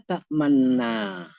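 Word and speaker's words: تأمنا: Lafzul, pelafalannya wafa, diterapkan pertama ashmim, baca dengan ismam, dua bibir mencucu setelah melafalkan ma sebelum berakhir nun musyaddadah. Kembali lagi dua bibir ke posisi sebelumnya.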